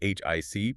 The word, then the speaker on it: HiC: Right, which was put together by Taro by Hi C, um spelled H I C, pronounced Hi C.